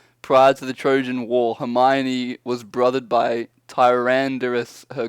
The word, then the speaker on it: Hermione: no, it's Hermione. I'm gonna Google that. Hermione. Yeah. It's spelled Hermione though.